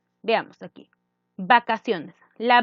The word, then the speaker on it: vacaciones: Vacaciones, ¿no es cierto?, la C. La C, ¿cómo se escucha? Vacaciones. Nosotros, ¿cómo escuchamos? Como una S, ¿no es cierto? Como S.